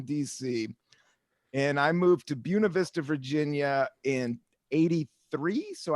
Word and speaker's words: Buena Vista: And you came, and what we're talking about is a small town called Buena Vista, Virginia, but it's pronounced Buena Vista, Virginia, Right.